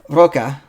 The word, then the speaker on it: roca: know what roca is i'm sure i'm not supposed to roll my r either because it's not a double r roca uh number number one